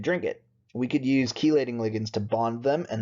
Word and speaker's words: chelating: a chelating ligand again there are other pronunciations of this word but I've always heard it as chelating chelating ligand czar really important